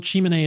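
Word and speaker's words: Tsimane: a high infectious load chimney is spelled t-s-i-m-a-n-e and you can see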